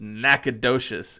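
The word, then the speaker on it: Nacogdoches: not that's probably not the right way to pronounce it but if you want to be texting about it it's nacad docious and interestingly enough interestingly enough there's a little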